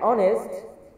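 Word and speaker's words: honest: অনেস্ট যেখানে উচ্চারণ হচ্ছে অ, অ উচ্চারণ হচ্ছে অনেস্ট, যেখানে প্রথম বর্ণটি অ এর মতো উচ্চারণ আসে, যার কারণে আমরা এখানে বসিয়ে দেব অ্যান।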